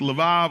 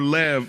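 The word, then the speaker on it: לב: Then we unpacked the word heart which in the Hebrew is pronounced lav or lev for short.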